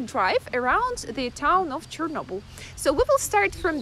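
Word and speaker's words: Chornobyl: So the usual name we can hear everywhere is Chernobyl, yeah? But the correct name is Chernobyl.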